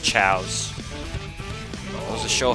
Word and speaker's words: Chao: when with the Chows, I thought they were, it was pronounced Chaoses, because Chow and Chaos kind of spelt the same way. But nope, they're pronounced Chows.